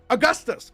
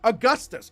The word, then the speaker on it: Augustus: All right, next is I believe it's pronounced August, right? Or August? What I do it's Philly's. It's Philly's character. Um, and this is a very interesting situation. Augustus. Augustus. Okay, so there's an us at the end.